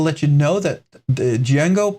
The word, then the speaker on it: Django: It's pronounced just Django. The D is silent. In other words, the D is silent. It's just Django.